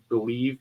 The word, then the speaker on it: BLEAV: Believe, BLEAV, for your 50% welcome bonus. I said it right that time.